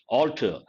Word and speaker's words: altar: it has religious connotation altar same pronunciation altar a-l-t-e-r-a-l-t-a-r a usually raised structure